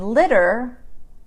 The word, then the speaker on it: litter: So the T in litter, litter, is pronounced like a D instead of a T.